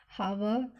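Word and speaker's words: hour: जैसे देखिए हावर, तो इसमें एच वर्ड तो स्टार्ट हो रहा है एच से, लेकिन एच हमारा क्या है यहाँ पर साइलेंट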